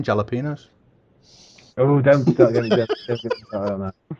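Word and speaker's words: jalapeños: You know, in some places in this world, they don't pronounce the J in jalapenos.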